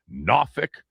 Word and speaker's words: Norfolk: It's going to hit the outer banks of North Carolina, maybe the Tidewater area, Norfolk, that's how they say it down there.